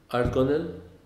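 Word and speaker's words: Ardgonnell: crossing at, now, pardon me if I don't pronounce it correctly, Argonel?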